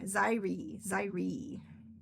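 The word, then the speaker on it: Xyri: So many people say Zaire differently. X-Y-R-I. It's Zaire. That's how I say it.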